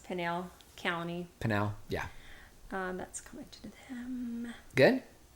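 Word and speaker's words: Pinal: she feels like you pronounce Pinell County.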